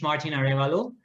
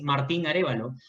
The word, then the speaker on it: Martin Arevalo: aravalo from peru okay so my name is martin arevalo if you want the spanish pronunciation is martin arevalo i'm 36 years old